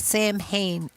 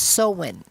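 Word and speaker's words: Samhain: about October 31st and the Celtic tradition of sewen. Now, some people think it's it's pronounced Sam Hayne. S A M H A I N. But it's a Celtic name, so it's pronounced Sen.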